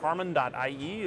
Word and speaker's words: harmon.ie: we've got Yakov here from harmon.ie or is it pronounced Harmony how how do you guys Harmon Harmony just straight up Harmony cool yes so uh